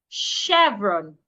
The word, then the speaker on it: chevron: The ch in that word also should be sounded like sh chevron.